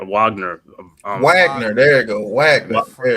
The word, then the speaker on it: Wagner: you had it right Wagner Wagner there you go Wagner yeah they pronounce it Wagner because they French I mean they German Wagner Wagner right the